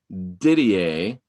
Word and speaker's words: Didier: Since he's French, I'm going to go with the French pronunciation. Carlos Didier.